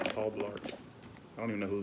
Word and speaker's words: Blart: Rhymes with fart. Paul Blart.